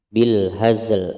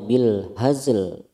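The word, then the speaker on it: بالهزل: Ya ini sama ya, hazli bil hazli, ini karena dia ada di akhir ayat di waqaf, maka bacanya bil hazl bukan bil haz. Kalau bil haz salah, bacanya yang benar bil hazl, lamnya harus tetap terdengar meskipun sedikit.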